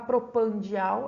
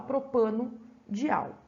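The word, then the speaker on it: propanodial: Esse O aqui é só para a pronúncia ficar um pouquinho melhor. Para não ficar propandial, a gente fala propano-dial.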